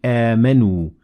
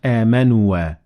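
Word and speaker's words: آمَنُوا: It looks like a circle, and it means that the alif is not pronounced. So we say amanu, not amanua.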